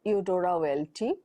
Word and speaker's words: Eudora Welty: This is your module on the short stories of Eudora Welty.